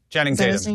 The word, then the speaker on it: Channing Tatum: Channing Tatum, yeah.